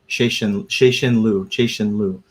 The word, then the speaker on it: Cixin Liu: whose video I watched said it was pronounced Cixin Liu. I don't know if I'm saying that wrong, because like in the audiobook it wasn't pronounced like that. It was pronounced a little bit differently. So the audio was Cixin Liu. It was instead of she, it's Shay.